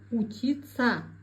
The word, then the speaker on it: учиться: Произносим правильно пишется стараться произносим стараца пишется учиться говорим утица пригодиться пригодится акян казахстан мухит полезный пайдала Теперь отвечаем на вопрос: что сказал поэт?